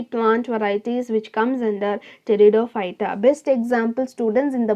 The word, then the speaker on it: Pteridophyta: So the next division is called as Pteridophyta. So P is silent here, so it's Pteridophyta.